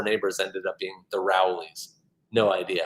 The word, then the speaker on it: Rowley: um annabelle frost once again wants me to pronounce rowley i would say rowley not rowley um rowley